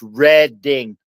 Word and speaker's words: Reading: No, it's red ding railroad and it's Lebanon baloney.